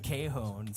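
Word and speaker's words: cajón: I'd be like, it's called a cajon. They'll be like, how do you spell that? C-A-J-O-N. They'll be like, Cajun.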